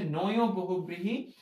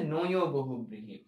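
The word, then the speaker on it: নঞ্ বহুব্রীহি: সবার কথা বলার চেষ্টা করছি আশা করি এইটা নিয়ে কেউ রাগ করবে না আমাদের এরপরের যেই প্রকারভেদ রয়েছে সেটা হচ্ছে নয় বহুবৃহী নয় বহুবৃহী উচ্চারণটা মনে রাখবে এই ন এবং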